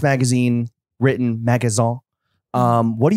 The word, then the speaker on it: Magasin: the podcast so your newsletter your substack magazine pronounced magazine written magazon um what do you write about